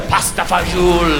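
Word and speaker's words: pasta e fagioli: will show off by pronouncing menu items authentically he'll be like all of the pasta fazool anyway we're sitting in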